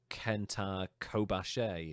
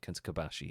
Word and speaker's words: Kenta Kobashi: So, like with the Japanese wrestler, one of my favorites, Kenta Kobashi, it's not Kenta Kobashi, it's like Kenta Kobashi. It's just flat, the way you pronounce it.